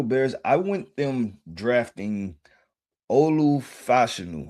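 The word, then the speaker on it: Olu Fashanu: went the Chicago Bears I went them drafting Olu Fashion right that's the proper way to say I want to say DPI.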